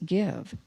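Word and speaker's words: Gyve: called give it's spelled G Y ve but pronounced give over the next month we'll be moving to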